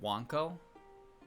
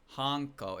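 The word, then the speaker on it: はんこ: Wait, was that pronounced Wanco like dog? H Wanco. Hko. Honko.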